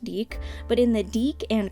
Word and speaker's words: DIC: Since we're in the topic of toys, I did want to say, I like to call it Dick. I know it's pronounced Deek, but in the Deke